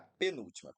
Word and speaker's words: penúltima: Letra A, penúltima. Penúltima, pessoal, ela é, sem sombra de dúvidas, uma proparoxítona, né? Penúltima. Beleza. A nossa sílaba tônica aqui é a antepenúltima, por isso ela é uma proparoxítona.